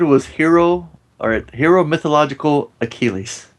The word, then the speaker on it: Achilles: hero or hero mythological achilles mythological hero achilles yes right that's not how he says it he says hero mythological a chili no god chili's yeah